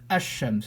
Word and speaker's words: ash-shams: And we won't pronounce the lam when the second letter has a shadda on it. We won't pronounce it at all. So in here the example is ash-shams, so we didn't pronounce the lam.